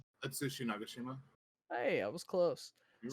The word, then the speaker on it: Atsushi Nagashima: Atsushi Nagashima? Is that the right way to say it? That sounds passable. Nagashima. Yeah. I think it's right. Atsushi Nagashima.